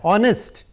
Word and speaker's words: honest: Pronunciation कैसा होता है, ऑनेस्ट। H here is silent, so emphasis is ऑन ऑनेस्ट, ऑ। ठीक है, तो एच साइलेंट है, ऑनेस्ट है, इसलिए क्या इसके आगे क्या लगेगा, एन लगेगा।